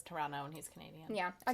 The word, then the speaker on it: Toronto: upper class household in Toronto. Blake's aunt. Toronto. Toronto? Toronto. Saguaro? Toronto. I dated a Canadian and I was corrected multiple times. You don't pronounce the T.